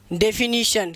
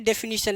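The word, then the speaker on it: definition: डेफिनीशन। लेकिन कई लोग पढ़ते इसे डेफिनेशन, इसलिए कई लोग इसे डेफिनेशन भी लिख देते हैं। तो इसकी रियल प्रोनाउंसिएशन डेफिनीशन होगी।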